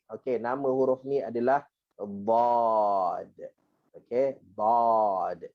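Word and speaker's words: ضاد: Okey, nama huruf ni adalah dad. Okey, dad. Ejaan dia adalah D-A-D. Bukan dad. Janganlah baca bahasa Inggeris pula.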